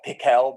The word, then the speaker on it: Pikel: But I've also got I have Pikel the Goblin. It's spelled like pickle, but it's Pikel.